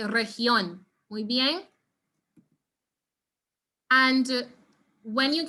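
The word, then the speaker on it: región: popular very popular region so make sure you don't say something like region okay maybe make sure you say region we being and when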